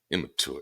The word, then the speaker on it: immature: off as immature sorry I do like pronouncing the hard T and immature cuz I used to pick at other people for doing it immature it's immature man I